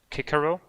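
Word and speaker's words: Cicero: and politician and philosopher kikero and that's how you actually say it at least if it's the latin pronunciation um the rear end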